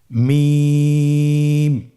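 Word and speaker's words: ميم: মিম হরফটি উচ্চারণের ক্ষেত্রে অবশ্যই বারিক হবে, পাতলা হবে এবং তিন আলিফ টেনে উচ্চারণ করতে হবে।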